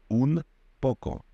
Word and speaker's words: un poco: But the Spanish will say "um poco" in rapid pronunciation . So "n" will turn into "m". It's easier. It's simply easier to pronounce the combination of "n" and "p" as "mp".